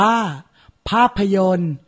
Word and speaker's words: ภาพยนตร์: สระอิ ย ยักษ์ การัน ส่วน คำ นี้ อ่าน ว่า ภาพยนตร์ ไม่ ออก เสียง ตอ เต่า รอ เรือ การัน ขอ รับ มา อ่าน